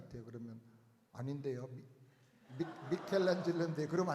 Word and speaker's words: 미켈란젤로: 예, 마이클 앤젤스가 그린 천지창조 그림 중에 하나인 것 같아요. 그러면 아닌데요. 미켈란젤로인데 그러면 안 됩니다. 미켈란젤로가 영어로는 마이클 앤젤스입니다.